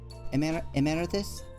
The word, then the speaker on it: Emeritus: Am I saying it right? Emeritus? It looks like a Latin word. You are! Nice.